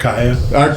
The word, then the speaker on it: Arkaiya: How do you pronounce that? ARKAIYA. ARKAIYA.